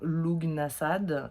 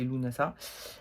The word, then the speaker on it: Lugnasadh: de la fête de Lunasa, qu'on appelle aussi Lamas, et qu'on prononce aussi également Lugnasad ou Lugnasad, mais a priori la vraie prononciation c'est Lunasa.